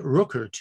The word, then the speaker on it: Rückert: be interior conversation friedrich you can compa pronounce that rookert in english if you want completed in 1833 his